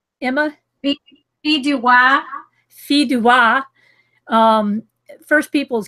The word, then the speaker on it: Fille du Roi: So there's Alberta, British Columbia, British Home Children, Empress of Ireland, Fille de Roi. Say it right, Emma? Fille du Roi.